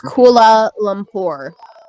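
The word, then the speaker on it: Kuala Lumpur: it's like the different like is that pronounced koala uh I hope that's what I would go with but maybe against uh pagan it's Kula Lumpur yeah that's what I said versus I'm gonna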